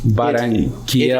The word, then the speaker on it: Barranquilla: It's called the barranquilla. Barranquilla. It is Quila or barranquilla. Quila? I think in Spanish 2 L's is yeah. Oh, it's a silent.